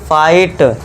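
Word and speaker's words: fight: फाइट। तो इसमें जो जी एच है ये ऑलवेज साइलेंट रहेगा।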